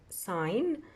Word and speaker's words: sign: let's read them first sign notice that here G is silent we don't pronounce it sign rules grass cycling